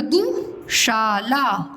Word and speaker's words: दुशाला: द में छोटा की मात्रा दु, शाला दुशाला।